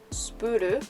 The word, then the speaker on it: SPUR: And then for Spuru, at S-P-U-R, in Japanese it's pronounced Spuru, but in English it would be Spur, I suppose.